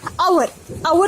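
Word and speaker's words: hour: जैसे एन आवर जो है यहाँ पे एच साइलेंट है, ऐसे लिखने में आता है, पढ़ने में नहीं आता क्योंकि यहाँ पे वावल साउंड है, इसलिए हम एन का यूज करेंगे.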